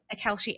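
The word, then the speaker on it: Kalshi: we have seen a couple of cases on Kelshi is that pronounced Kelchi the prediction market Kelshi and then the poly market specifically this weekend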